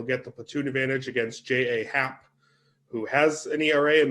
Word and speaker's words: J.A. Happ: Happ, really, I'm glad that you pronounced his name J.A., Eric, because it's the incorrect way, but it's actually the correct way. Because you don't get to say your name's J Happ when it's J.A. Happ.